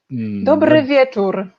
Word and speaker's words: Dobry wieczór: Dobry wieczór.